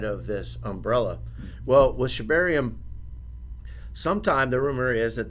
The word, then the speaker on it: Shibarium: So one of the first things we wanted to talk about was Shibarium.